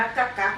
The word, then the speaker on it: กักกั๊ก: ไว อ่า XO สรุป ว่า อ่าน ว่า กัก กั นะ คะ ทุก คน ก ก ไม่ ได้